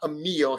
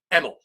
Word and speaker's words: Emil: his name is not a meal his name is emil emil wickman nate strong super